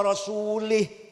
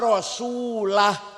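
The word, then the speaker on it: ورسوله: Salah. Salah. Bacanya harus Annallaha bari'um minal musyrikina wa rasulah.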